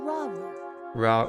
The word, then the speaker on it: Rauru: And learn that your new arm belonged to someone named Rauru. That's just how it's The pronounced.